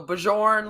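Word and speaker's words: Bjørn: So Bjorn, like the singer.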